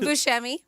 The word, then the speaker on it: Buscemi: Growing up, though, his family pronounced it Buscemi. Buscemi. Okay. Buscemi, yes. So he said that's like the Sicilian pronunciation of properly how to say it.